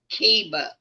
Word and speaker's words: Kiva: Say the dog's name slow. Kiva? Kiva? Kiva, yes. Okay, it's not spelled like it sounds. No, it's a Gaelic name. And so when you see it, it it is not spelled anything like how it sounds.